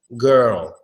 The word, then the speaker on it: girl: are you saying girl your tongue should be coming up the whole time girl those your tongue is coming up as you say that it's gonna sound just fine girl girl girl it's